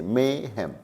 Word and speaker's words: mayhem: इसको ध्यान रखिए कि जब आप इस वर्ड को प्रोनाउंस करें तो मे को खींचे, मेहम, मेहम, राइट।